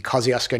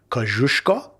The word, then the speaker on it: Kościuszko: We went on a tour of the Yarrangobilly Caves, which are these caves in the Kosciuszko National Park, or as it's pronounced in Polish, Kościuszko.